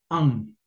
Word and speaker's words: un: Pero en francés no lo hagan así, hágalo sin mover la lengua. Eso es un sonido nasal. Es como si tuvieras gripa, ¿no? Entonces, mucho ojo, haz la pronunciación, no muevas la lengua y pronuncia AN.